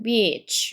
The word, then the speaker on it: beach: 요거 길게 읽어주셔야 됩니다. 발음 기호가 여기 긴 표시 있고 이렇게 해야 이게 해변이라고 있는 거거든요. beach 이렇게 길게 읽어주셔야 돼요.